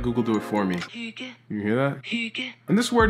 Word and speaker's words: Hygge: I actually can't pronounce the name of this cabin, so I'll let Google do it for me. Hygge.